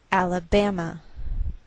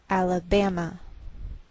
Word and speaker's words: Alabama: a lowered Mark so the greater stress is on this third syllable we say Alabama Alabama what else is shared